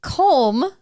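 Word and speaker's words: Colm: and then last one c-o-l-m it should be comb column column column column Casey hmm I like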